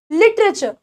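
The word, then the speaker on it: literature: interest interest ठीक है लिटरेचर लिटरेचर ठीक है लिट रे चर ऐसे बोलेंगे लिटरेचर लिटरेचर लिटरेचर ठीक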